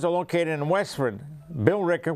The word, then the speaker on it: Billerica: a located in Westford Billerica which some people pronounce Billy Ricker and over Stoneham Reuben